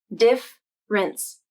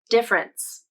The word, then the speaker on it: difference: next word is difference i just pronounce this word as two syllables diff rinse difference but the spelling makes it seem like there should be another syllable in the middle difference difference cambridge dictionary transcribes